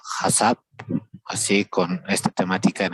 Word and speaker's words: HACCP: OH HSCP se pronuncia HASAP, así con esta temática en español, ¿no?